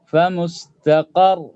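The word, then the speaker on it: فمستقر: Sehingga ra-nya otomatis harus disukunkan. Famustaqar. Jadi jangan lihat harakat dari ra di situ secara tulisan, tetapi secara bacaan, yaitu ketika diwakafkan. famustaqar.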